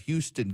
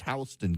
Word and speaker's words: Houston: K-A-R-O, but nope, it's spelled Cairo, but they pronounce it Cairo. My favorite is we have Houston County in Georgia, but it's Houston County in Georgia.